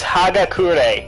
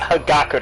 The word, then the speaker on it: Hagakure: I will argue it it's hagakure not hidaka day Americans its hagakure the ultimate